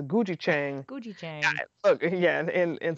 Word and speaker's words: gochujang: It sounds like you're saying C, but it's Gujichang.